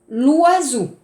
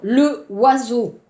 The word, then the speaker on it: l'oiseau: L'oiseau, alors le oiseau, non, l'oiseau, c'est l'oiseau.